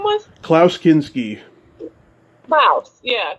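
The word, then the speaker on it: Klaus Kinski: his name what' you say his name was clouse kinsky clouse yeah klouse so okay um he was Pol I have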